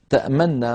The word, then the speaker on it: تأمنا: إعرابيا وإنما سكنت للإدغام، يضم القارئ شفتيه هكذا رويت لنا: ما لك لا تأمنا على، ما لك لا تأمنا على، يضم الشفتيه ضما لا أثر له في الصوت وإنما هو منظر فقط.